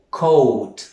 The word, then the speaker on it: coat: O, coat, la A no la pronunciamos.